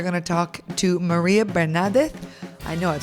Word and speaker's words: Bernardes: My surname, Barnardes. Barnardes. Yeah, it would be like Barnardes in English. Barnardes. Barnardes. This. Yeah, with an S in the end.